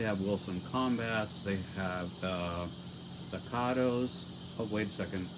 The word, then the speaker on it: Staccato: They have Staccatos. Oh, wait a second. I get so criticized for saying staccato, which is the correct pronunciation in Italian. But America, I guess I should say staccato.